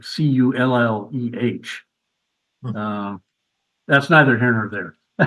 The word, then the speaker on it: Colle: And everybody in America calls Edgard Colle Colle, which is not really either. It's more like Colle, like Culleh.